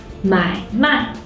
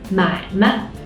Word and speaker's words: 买卖: 买卖 means to buy and sell. But if the second syllable turns into a neutral tone like 买卖, it means business.